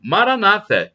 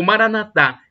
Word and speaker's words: Maranata: proverá e do aramaico Maranata como dizem os protestantes ou evangélicos é a tônica na penúltima sílaba ou Maranata ou dizem os católicos com a tônica na última sílaba não importa somos todos